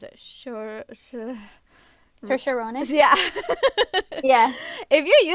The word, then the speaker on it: Saoirse: like if you're using what's her, how do you pronounce it? Saoirse Ronan.